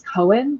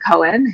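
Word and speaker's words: Koen: So, uh, Lo is spending the morning with I'm pronouncing this as Cohen. Does that feel okay to people or am I just a Jew? Nope, I'm good with that. Um, Lo is spending the morning with Cohen, who's an ally of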